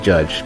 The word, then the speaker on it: JYDGE: It's like it's Jidge or Judge. It's supposed to be Judge, but it's like it has instead of a U, it's a Y.